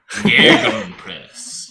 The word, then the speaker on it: Gegenpress: Gegenpress, yeah.